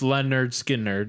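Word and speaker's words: Lynyrd Skynyrd: couple albums days gone there's there's pretty it's pronounced Leonard Skynyrd is the one the first album with free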